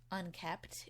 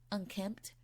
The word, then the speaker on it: unkempt: this house look really unkept. Is that how you say it? Unkept? I feel like I've heard people say unkempt. I'm just gonna say unkept though, because like that makes more sense to me.